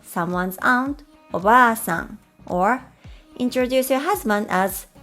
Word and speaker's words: おばあさん: If we add an extra vowel, a, to the middle of the word, it becomes obasan or grandmother.